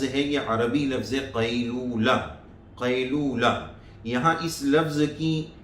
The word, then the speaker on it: قیلولہ: پہلے توجہ کرتے ہیں۔ لوگ اس کو بولتے ہیں قیلولہ، عبداللہ کی طرح، قیلولہ کہ بھائی قیلولہ